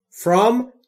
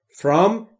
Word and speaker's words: From: From و نه from. تلفظش درستش رو دقت بکنید. From بین F و R صدای وجود نداره، ما هم صدای اضافه نمی کنیم.